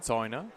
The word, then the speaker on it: Zäuner: Zena. Say it again. Zena. Zena.